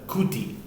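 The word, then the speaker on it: כותי: This is Houthi, but it's a Kuti, even though it could be pronounced Houthi because it's a chaf.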